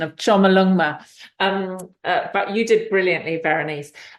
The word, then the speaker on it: Chomolungma: You mentioned about how I'm gonna hash up the pronunciation now, but I'm gonna go with this. So Chomolungma.